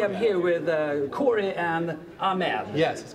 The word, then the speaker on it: Ahmed: just rolling okay I'm here with Corey and ahed yes correct I pronounced that correctly that is correct that's thank you sometimes people get it uh I get a lot of stuff sometimes I get Amad I can't stand that one sometimes people think